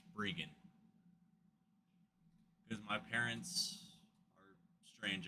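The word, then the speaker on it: Breggan: It's spelled like Brian but pronounced Brian because my parents are strange, I guess.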